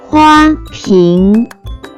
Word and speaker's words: 花瓶: First character is 花 pronounced with first tone.